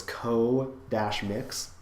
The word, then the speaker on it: Co-Mix: It's spelled like comics with an X, but there's a hyphen, so it's co-mix.